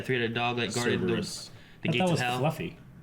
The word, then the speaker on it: Cerberus: Cerebus? How you say it? Cerberus.